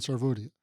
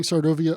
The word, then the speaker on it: Sarvodaya: MK Gandhi Center yes colon inner peace and svod yes and I pronounced that correct right correct you did great so just for everybody and you kept saying sovia uplift of all or uplift for all uplift